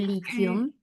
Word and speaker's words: lithium: Esto suena om. Que le lithium.